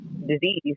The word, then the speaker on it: dis-ease: And what shows up is dis-ease, not disease, spelled the same way, but I pronounce it dis-ease, meaning that your body isn't communicating.